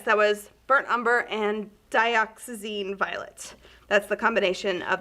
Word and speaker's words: dioxazine: This was the burnt umber, and Katie, how do you say the violet? Dioxazine. Dioxazine.